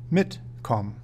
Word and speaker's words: mitkommen: It is important to know that, when pronouncing separable prefix verbs, the prefix will be stressed, mitkommen.